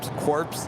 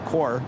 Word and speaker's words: corps: as the Marine Corps corpse is pronounced as core sorry oh well hopefully